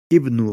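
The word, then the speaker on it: ابن: La première, c'est que le nom Ibn s'écrit habituellement avec la lettre alif à son début. Il s'agit d'un alif de liaison qui n'est pas prononcé et indique simplement que l'on doit prononcer la voyelle kasra à cet endroit lorsqu'on ne fait pas la liaison avec un mot qui la précède.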